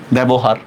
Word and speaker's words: ব্যবহার: কোনো ই আছে বলেন, জ ফলার পরে কোন কোনো ই আছে, নাই। এই জন্য দেখেন আমরা উচ্চারণটা কিভাবে করব, বে বো হাকার হা র হসন্ত, ব্যবহার। দেখছেন তো, এই যে আমরা এ উচ্চারণ করতেছি কিনা, এ।